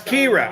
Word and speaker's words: Ciara: uh for coming here pronounce kira okay now that's the sixth different way i've heard it pronounced guys thank you very